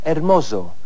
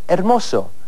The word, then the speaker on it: hermoso: Walter dijo hermoso con el sonido de una Z inglesa, en vez de hermoso, que es como se diría correctamente en español.